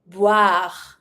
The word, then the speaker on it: boire: To drink, boire. Don't pronounce the E. Boire.